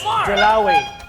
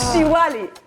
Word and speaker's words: Diwali: Dilawi. Huh? Dilawi? No. It's not correct. So it's Diwali.